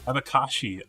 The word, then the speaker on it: abacaxi: Abacaxi? I'm sure I completely butchered that. Sorry, Victor. Abakashi. Oh, the X's were like she. Okay. In the middle of the word sounds like shh.